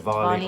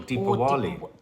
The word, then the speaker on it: Diwali: You can spell it Spell Diwali, but pronounce it Diwali or Deepawali.